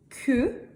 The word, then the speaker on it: queue: Et une queue. Le U ici, on ne le prononce pas. Queue.